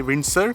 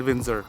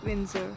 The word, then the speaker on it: Windsor: add about the pronunciation we used to say windsor but the correct pronunciation at windsor windsor yeah we also realized it few weeks ago